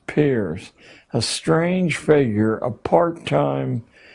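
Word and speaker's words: Peirce: philosopher human history has produced he was it's pronounced Pier but it's spelled as if it were Pierce Charles S Pierce a strange figure a part-time lecturer at Harvard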